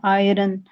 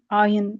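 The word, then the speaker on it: iron: Mostly इस word को लोग पढ़ते हैं आयरन। तो इट इज एन आयन।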